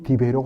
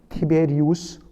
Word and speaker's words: 티베리우스: 한지 15회 되던 때였다고 되 있습니다 여러분 먼저이 디베료 황제가 누구냐 정확하게이 발음을 하면 티베리우스 황제입니다 이것을 우리 한글 성경 한 3 40년